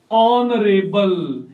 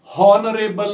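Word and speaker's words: honourable: तो ये शब्द हॉनरेबल नहीं है, नहीं हॉनरेबल, बल्कि ये है ऑनरेबल शब्द है, और ऑनरेबल शब्द जो है उसमें एच म्यूट है, और इस कारण से हम यहां पर एन का प्रयोग करेंगे।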